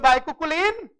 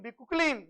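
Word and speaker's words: bicuculline: बोलो बाइकुकुलिन. सम peoples are pronunciating बिकुकुलिन, जो भी है, राइट?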